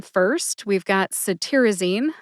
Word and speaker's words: cetirizine: first we've got saine saine has four syllables s like citrus tear like crying a tear I which is a short I sound or a schw ey sound I and Zen which rhymes with teen put that all together and you get saine emphasize tiar see if